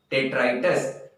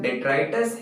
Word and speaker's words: detritus: इसका जो प्रोनाउंसिएशन है डेट्राइटस, तो इसका प्रोनाउंसिएशन डेट्राइटस है।